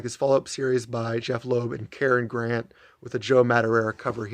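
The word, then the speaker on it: Jeph Loeb: It's Jeff Loeb, J-E-P-H, Jeff Matsuda, J-E-F-F, and the title character, Jeff, G-E-O-F-F.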